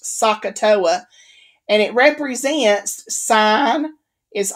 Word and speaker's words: SOHCAHTOA: One is probably the most common is SOHCAHTOA, okay, SOHCAHTOA. It's pronounced SOHCAHTOA, and it represents sine is opposite over hypotenuse, cosine is adjacent over hypotenuse, and tangent is opposite over adjacent.